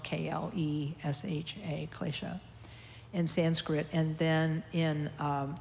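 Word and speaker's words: klesha: and into Sanskrit and in Sanskrit it's um Ecclesia spelled k-l-e-s-h-a glacier and Sanskrit and then in tibetan I think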